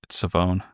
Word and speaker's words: Shavon: Savone. It's It's Yeah, Savone. Or I I've been saying Savon, but you don't pronounce the H.